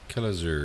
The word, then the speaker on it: Kelazur: Apparently, Kelazur. that's how you say it.